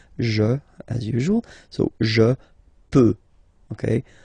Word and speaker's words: peux: as usual, so je peux, okay? Final x not pronounced here, okay? So you've got x, but you don't pronounce it, so basically you get the sound peut, je peux, okay?